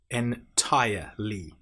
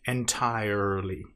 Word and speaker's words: entirely: So I tire I entirely. Now make sure you don't pronounce the R in entire. It's not entirely. It's entirely.